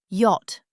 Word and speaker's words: yacht: Yacht, pronounced yacht.